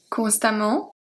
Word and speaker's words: constamment: Constamment, patiemment, récemment. So the A and the E are pronounced exactly the same. They're pronounced A.